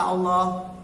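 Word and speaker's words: الله: Jadi lam pada kata Allah dibaca tebal atau tafkhim kalau sebelum kata Allah tanda bacanya a.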